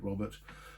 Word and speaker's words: Robert: I mean, something like 1 in 8 people were called Robert. And the diminutive, the diminutive is Robin. If you pronounce Robert in a French accent, it's Robert.